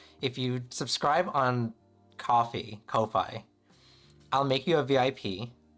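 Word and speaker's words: Ko-fi: So it's like it's coffee, right? K O F I. Anyways, have I never said we? I'm saying it right now. Weefy. But it's pronounced co K co Kofi.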